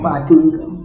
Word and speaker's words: Badingo: She can't pronounce my local name. It's Badingo. Badingo.